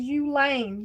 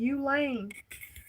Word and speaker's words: Ulane: Her name is Ulane. Ulane. I remember it being pronounced that way because I think I watched her say that she was that's what she goes by. That's her name. Okay.